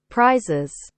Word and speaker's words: prizes: Ha, nhưng cái cách đọc thì cũng y vậy, cũng là z. Prizes.